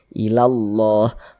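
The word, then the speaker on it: إلا الله: Jadi dari la langsung masuk ke huruf lam yang ada tanda bacanya ini. Ilallah. Makanya alif lam syamsiyah itu disebut juga dengan idgham syamsiyah.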